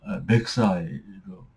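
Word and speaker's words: Versailles: 그러니까 말세유 같은 것도 마르세유로 발음하는게 아니라 막세이라고 발음을 하거든요. 제가 빨리 해서 들어보면. 그러니깐 베르사이도 마찬가지죠. 맥사이로 어 들립니다.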